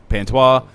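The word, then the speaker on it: Pantoja: So let's start with say his name again with the P. Pantois.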